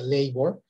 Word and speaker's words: labor: en inglés que se escribe labor y que se pronuncia ley word este así también se